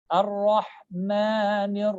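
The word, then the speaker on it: الرحمن: The only letter which you need to focus and pronounce it as A is the letter Ra. All right, because this is a heavy letter. Bismillahir Rahmanir Rahim. Ar-Rahmanir Rahim. Ar-Rahmanir Rahim. Ar-Rahman. I'm not saying Ma.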